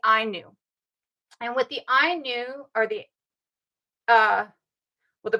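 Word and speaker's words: Ainu: knew and with the I knew or the uh well the predator of the Anu I've heard it pronounced as I knew and I'm going with that one um with the Inu which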